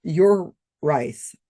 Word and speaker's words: Urice: In one article I found, it said here how here is how to pronounce his name. Pronounced your rice.